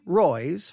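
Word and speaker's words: Roys: has been an ongoing dispute arising between julie roy's her last name is spelled r-o-y-s julie roy's and the ministry of john macarthur all right there's a julie royce that keeps releasing and publishing these investigative reports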